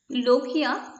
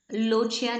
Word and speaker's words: lochia: लोकिया correct pronunciation है, लोचिया नहीं। सो लोकिया उसको बोलना है।